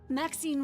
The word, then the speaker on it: Maxine: Maxine rhymes with queen after all and dearest.